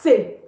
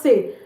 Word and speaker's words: ces: CES is pronounced say, okay? It's pronounced say, and it applies to